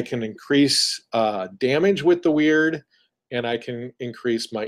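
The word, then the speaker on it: wyrd: the big ones is a skill called weird and it's spelled w y r-d and what that does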